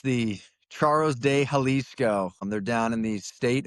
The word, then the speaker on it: Charros de Jalisco: And I will let Aaron pronounce his Mexican league team name now. Yeah, it's the Charros de Jalisco.